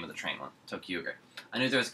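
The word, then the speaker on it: ToQger: Tokuger. That's the name of the train one. Tokuger.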